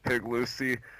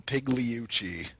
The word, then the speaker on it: Pigliucci: still confused as to how to pronounce Dr pigliucci's name is Dr Massimo pigliuchi so well I get her I got that wrong the G is almost silent so this is what